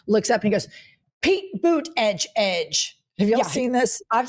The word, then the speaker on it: Buttigieg: It's Pete Boot like a boot on your foot Edge Edge. Oh. So every time he always goes "Pete Boot Edge Edge."